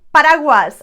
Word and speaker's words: paraguas: is telling you hey you need to pronounce the u in this word for example paraguas umbrella or berwenta shame